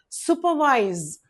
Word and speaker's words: supervise: Okay, look at the pronunciation supervise. Okay, supervise. This sound indicates ooh and the two dots give the give give a elongated sound like sue.